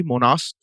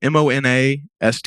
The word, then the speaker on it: Monast: Born in 1945, French-Canadian Sergei Monast, I think so you pronounce his name, Monast, Monast. You were very confident about it, so I'm going to believe you. Sergei Monast. Sergei Monast. Monast, yeah. Monast. Okay. Monast, maybe.